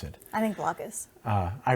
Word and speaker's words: Blokus: I think Blockus. I pronounce it Blockus too.